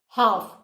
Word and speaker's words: half: This is R, H is silent, whereas in this half, you can hear the sound of H.